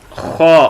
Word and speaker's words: خا: خوا کے اوپر ایک نقطہ ہوتا ہے اور ہا سے اس کو ڈیفرنٹ طریقے سے پڑھتے ہیں، مختلف طرح سے. جو ہا ہے اس سے اس کو اور طرح پڑھتے ہیں. اس کے اوپر ایک نقطہ ہوتا ہے. یہ اوپر دیکھیں ایک نقطہ ہوتا ہے اور اس کو تھوڑا سا موٹا پڑھتے ہیں.